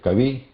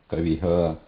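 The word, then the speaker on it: कविः: So when we say kavi, then just continue e and release the breath. Kavi, kavi, balakah. So like that. Yeah. So whatever swara is there before that, and the release of breath should continue after that swara. So it should not be pronounced separately as a ha. Kaviha, balakaha, not like that.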